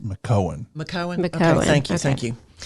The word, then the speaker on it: McKeown: pronounced McKeown.